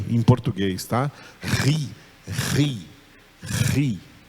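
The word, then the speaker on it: χ: Mas o som não é de Ki. Esse K aí não faz com que o som seja de Ki. Esse K junto com o H faz que o som seja de Ri.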